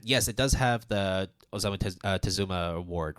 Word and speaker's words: Osamu Tezuka: Whereas this, on the other hand, yes, it does have the Osamu Tezuka Award, right? Did I pronounce that correctly? Yeah, yeah. Yeah, the Tezuka Osamu Award.